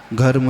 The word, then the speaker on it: घर्म: धर्म रश्मि नहीं, वो घ कर दो, घर्म है, घ घड़ी का घ है वो, ध नहीं धनुष का, घर्म रश्मि ने शूर।